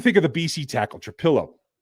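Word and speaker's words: Trapilo: And I know I've said Trapillo in the past. There's only one L in his name, and I have corrected that in my head. So now I'll say it right.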